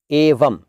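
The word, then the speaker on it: एवं: सही स्पेलिंग है एवम, ए व और ऊपर बिंदु, एवम। म का साउंड है लेकिन है बिंदु, एवम।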